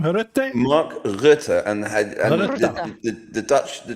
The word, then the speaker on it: Rutte: Ed, how do you pronounce his name? Rutte?